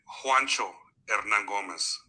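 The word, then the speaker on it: Juancho Hernangómez: So you pronounce it Juancho Hernan Gomez.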